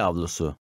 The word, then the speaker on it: avlusu: The V in the second word is silent. Cami avlusu.